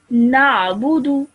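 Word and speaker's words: نعبد: So normally I would read this as na'budu, Na'budu. na'budu. Na'budu. Excellent. Well done. Okay. Try and get that ayn sound in your throat.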